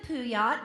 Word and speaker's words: Puyat: This is Amanda Puyat. Did I say it right, Amanda? Yes, ma'am, you did.